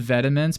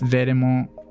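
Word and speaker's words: Vetements: I always called it Vediments, but then somebody's like, that's not how you pronounce it. It's Vedemont. They got really into like,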